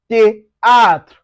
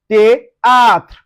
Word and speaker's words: théâtre: Then also if you see TH, you pronounce it as T. Now it gives us théâtre, théâtre.